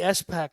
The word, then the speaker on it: SPAC: a spec yeah yeah why do you say s pack but i say spack i don't know why is that okay well because it's technically s back i say it properly you say improperly but potato potato tomato